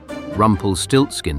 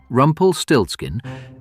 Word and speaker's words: Rumpelstiltskin: Rumpelstiltskin, and I am spelling this for the record. R U M P E L S T I L T S K I N. 15 letters, four syllables, zero aliases.